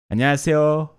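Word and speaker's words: 안녕하세요: Mais ça s'écrit pas. Ouais, Anyang, c'est bonjour en coréen. Annyeonghaseyo.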